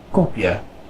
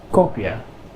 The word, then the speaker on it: kopje: Here we have the short O, it is pronounced O, not O and not aw, but kind of in between there. O, as in kopje, kopje, which means cup. Now we have a long